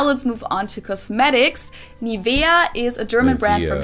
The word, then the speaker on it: Nivea: of products nowadays again i find the english pronunciation pretty funny nivea it's nivea i would always say neville neville or nivea or nivea or nevaeh uh naive naivea like i've heard so many different people pronounce it wrong i pronounced it wrong